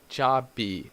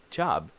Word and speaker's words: job: English this constant is when they end in a word they are very soft pronounced it's like almost like